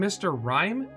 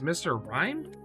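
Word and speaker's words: Mr. Rime: say anything else oh i also didn't realize the other mr mines i was getting were named mr rhyme and i've been saying it wrong many times i still hate it but apparently it's mr rhymed i don't know i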